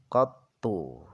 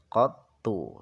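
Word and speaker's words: قَطُّ: Jadi, “qattu” dibaca dengan fathah pada qaf, dilanjutkan dengan dammah pada ta dengan shaddah, “qattu” seperti itu.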